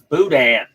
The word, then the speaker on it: boudin: What is Borden? Yes, it's Boudin.